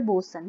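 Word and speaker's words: boatswain: Okay, enter a master and a bosun. This is the pronunciation of both swain is actually bosun.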